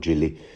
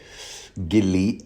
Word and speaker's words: Gilly: swife uh Gilly think I think he pronounced Gilly and not Jilly Gilly uh which is a